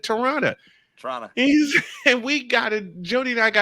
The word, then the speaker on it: Toronto: I said he said it correctly he said Toronto Toronto and we got Jody and I got